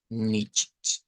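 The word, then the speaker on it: nicht: a lo de n con el sonido de lo que vendría siendo la cedila hay varias formas de pronunciarlo pero hemos quedado con esta que es como la más común nich e vamos a la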